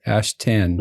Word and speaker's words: Ashtan: Ashtan.